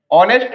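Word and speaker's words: honest: यहां पर भी देखो एच हमारा क्या है साइलेंट है एज एच क्या है हमारा? साइलेंट है। तो इसको क्या पढ़ेंगे? ऑनेस्ट। क्या पढ़ेंगे? ऑनेस्ट। तो ऑनेस्ट है। ओ आ रहा है साउंड।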